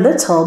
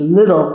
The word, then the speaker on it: little: bottom little gray donkey when you're singing the word little make sure you're pronouncing two t's otherwise it turns into two d's little grey donkey but we want little gray donkey so make sure you're doing teas okay since i want